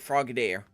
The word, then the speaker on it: Frogadier: Okay, so I was saying it right, Frogadier.